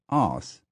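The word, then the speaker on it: arse: The last word is actually A-R-S-E, pronounced os, to rhyme with gloss.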